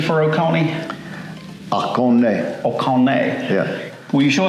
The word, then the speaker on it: Oconee: And what's the correct pronunciation for Oconee? Oconee.